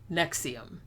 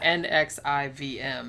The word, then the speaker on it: NXIVM: It's Roman numerals. It's like NXIVM, because he was trying to be like fucking fancy and shit.